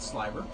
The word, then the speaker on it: sliver: It's going to look like roving because it is a type of roving, but we call it sliver. It's spelled like sliver, but it's called sliver.